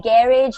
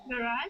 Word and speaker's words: garage: how do you say Garage in the US garage garage garage yes exactly and these are basically the exact same thing garage garage okay it's like a French pronunciation it's a French pronunciation